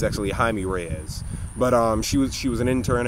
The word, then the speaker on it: Jaime Reyes: In fact, because of her, I learned that that's how you pronounce his name. I thought it was Jamie Reyes. It's actually Jaime Reyes.